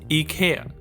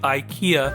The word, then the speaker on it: IKEA: There are many articles claiming we've been saying it wrong in English. And, that's all BS. The English commercials say "Ai-kee-uh". "Ikea, Love your ho-" That's the official English pronounciation.